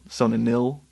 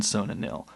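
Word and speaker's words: Sona-Nyl: So they keep going, and they finally drop anchor in this harbor of, and how did you pronounce this? Sonanil? Sonanil.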